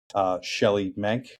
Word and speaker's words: Shelley Menk: And today with us on the podcast, I have first Shelly Menke. Correct pronunciation there, Shelly?